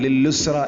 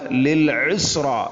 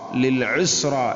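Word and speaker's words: للعسرى: അതുപോലെ ലിൽ ഉസ്റ എന്നുള്ളത് അധികവും പലപ്പോഴും ലില്ലുസ്റ എന്നായിരിക്കും കേൾക്കുക. ലില്ലുസ്റ, ഐൻ കാണാതെ നഷ്ടപ്പെട്ടുകൊണ്ട് വീണ്ടും ലാമിനെ കൊണ്ട് വായിക്കുന്ന ഒരു സന്ദർഭം, ലില്ലുസ്റ, അതും ശരിയല്ല. ലിൽ ഉസ്റ, ലിൽ ഉസ്റ എന്ന് തന്നെ വായിക്കണം.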